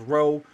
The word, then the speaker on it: rho: Rho they pronounce it as row but they got it from us.